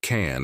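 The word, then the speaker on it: 蚕: this kind of insect its name should be pronounced can in Mandarin and there is not only one kind of can there are also some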